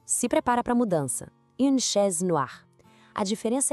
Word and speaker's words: noire: O e faz com que a gente pronuncie o r de um jeito mais claro. Ouve a comparação. No ar, no ar.